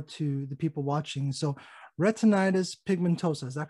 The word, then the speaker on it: retinitis pigmentosa: you know more to the people watching so retinitis pigmentosa is that correct you got it you got it i always worry about not pronouncing that correctly so tell us about what